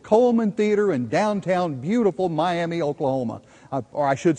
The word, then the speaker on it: Miami: to the Fantastic Coleman theater in downtown beautiful Miami Oklahoma or I should say my Oklahoma as it's pronounced here you would think you were in